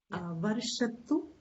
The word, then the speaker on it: वर्षतु: Varshatu is a chota u, so don't lengthen it.